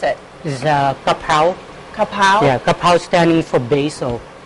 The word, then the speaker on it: Kha Prao: tasty dish how do you how do you pronounce it this is a papow kapow yeah kapow standing for Basil actually so kapow